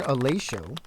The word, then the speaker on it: Alacio: Christian Alacio, for those of you who did not pronounce it correctly before tonight, like myself, co-owner of Canton.